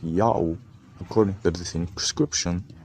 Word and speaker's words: Ya'oh: in that case but yayo has nothing to do with god's name and there is no other legitimate proof that his name is yayo god's name is pronounced yahoo according to the same